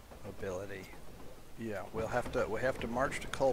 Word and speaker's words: Meagher: Okay, so the army is not in bad shape losses-wise, but we do have especially Meagher, I believe that's pronounced Mar, if I recall correctly.